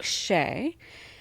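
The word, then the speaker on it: Hsieh: So, Frederick Sheay, um, which is spelled H S I E H, was a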